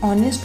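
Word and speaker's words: honest: Friends, यहाँ ध्यान देने की बात यह है कि ऑनेस्ट में फर्स्ट लेटर एच कॉन्सोनेंट है, लेकिन प्रोनाउंसिएशन में फर्स्ट साउंड ओ जो कि वोवल साउंड है, इसलिए एन का यूज़ किया गया है।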